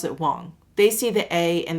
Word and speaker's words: Wang: Well, actually, my last name is pronounced Wong. It's spelled with an A. And I like to just tell people, pretend it's a magic wand, W-A-N-D. It's just W-A-N-G. So it's the same way you would pronounce wand, magic wand.